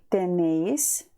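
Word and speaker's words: tenéis: ми маємо тенемос і тенеїс тенеїс це ви маєте і пам'ятаємо що ось цій формі у нас має бути наголос записуємо його нес Ви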